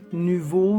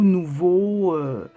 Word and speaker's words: Nuvo: l uv haut et ça se prononcer comme on veut niveau nouveau voilà moi j'en ai